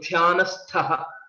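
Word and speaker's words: ध्यानस्थ: Here in this case, the starting letter Dh is a Mahaprana and ending letter Th is also a Mahaprana. So Dhyanastha is the right way to pronounce it.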